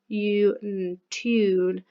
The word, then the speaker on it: tune: And again, a bit like when we did tube yesterday, it sounds like a ch sound at the beginning. It's not a ch sound, it's a t t t. So it's tune.